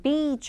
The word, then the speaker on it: beach: 그 다음에 visiting the beach 할 때 요거는 이제 길게 발음을 안 하시면은 그 어떤 불상사가 일어나는지 여러분들이 더 잘 아실 거예요. 자, beach 아니 beach 해야 되죠. beach. visiting the beach 하면은 나쁜 사람한테 간다라는 뜻이 되잖아요. 자, visiting the beach.